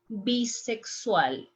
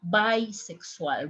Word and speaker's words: bisexual: is saying yo soy bisexual, is not bisexual. Remember in Spanish, we pronounce this part bi, we don't say bi.